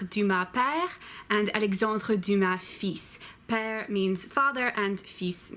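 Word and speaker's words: fils: ma pair or feasts yes that word is pronounced feasts Alexandre Dumas père Alexandre Dumas feasts on okay do buddy Zach oh no FA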